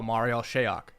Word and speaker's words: Marial Shayok: Jake, how do you pronounce this man's name? The Cavalier. Oh, Marial Shayok.